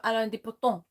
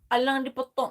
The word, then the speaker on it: Alain de Botton: No, I'm going to have some Alain de Botton. Alain de Botton. That's not how you say his name. Alain de Botton.